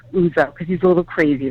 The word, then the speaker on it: Ouzo: spell it it's o-u-z-o it's like the greek liquor oozo because he's a little